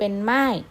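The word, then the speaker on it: 卖: บวก อาย เป็น มาย เสือ สิงห์ 4 เป็น หม้าย นะ คะ ไม่ ตัว นี้ นะ ครับ แปล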